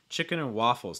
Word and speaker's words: chicken and waffles: chicken and waffles again chicken and waffles notice also too that your stress is going to be on waffles here chicken and waffles chicken and waffles okay